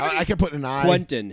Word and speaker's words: Quenton: can put an i Quenton his name is pronounced Quenton Nelson not Quinton took me like 5